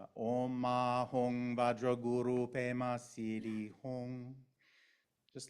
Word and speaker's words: Vajra: So this mantra, Oma Hong Vajra Guru Pema Siddhi Hong. You can also say Oma Hong Benza Guru Pema Siddhi Hong. Benza is the Tibetan way of pronouncing Vajra. Vajra is the Sanskrit word.